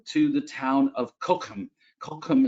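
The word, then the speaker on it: Cochem: the town of kokum kokum is how they say it with that little guttural sound uh and this is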